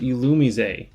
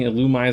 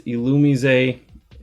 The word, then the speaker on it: Illumise: just before I filmed this video, it is pronounced Illumise. So definitely was pronouncing it wrong. I was saying Illumise this whole time. It's Illumise, or Illumise.